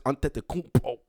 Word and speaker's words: Antetokounmpo: I know how to say it. Giannis Antetokounmpo.